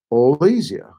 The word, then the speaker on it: Olesia: And that's the way you pronounce the name. It's my name, and my wife's name is Olesia.